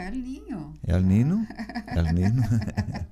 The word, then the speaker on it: El Niño: El Niño? El Niño? É que você falou El Niño. El Niño. Quando você fala na pronúncia correta, dá a impressão que é o Elinho.